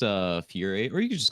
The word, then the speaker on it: Fiuyr: my name correctly first try uhhuh so it's pronounced uh Fury or you could just call me like